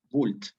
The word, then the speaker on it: vult: Porque tienes una U y tendrías que pronunciarla como U en latín clásico, ¿no? En ese caso, tú te puedes evitar ese esfuerzo y decir vult directamente, ¿sí? No, es como una excepción a la pronunciación del latín eclesiástico. ¿Me explico, Simona? O sea, no complicarte ahí. Simplemente dices vult y listo, nadie te va a